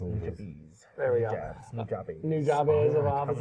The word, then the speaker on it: Nujabes: because he definitely deserves to be mentioned, but New Jobs. Oh, Nujabes. Nujabes.